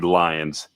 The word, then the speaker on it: Lyons: It is actually Lions. Hence the name Lions Blend or B easy for me to say. Lion's mane beard. That's why that's why it's spelled that way. Okay. Um my my name is spelled L Y O Ns.